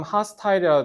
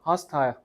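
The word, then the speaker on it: hostile: 발음 하스타일이라도 돼. 호스탈 이런가 하스타일 적대적인 적대적인 뜻이죠.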